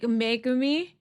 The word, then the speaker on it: Megumi: Everyone's saying stress the ME like Megumi, but I don't know.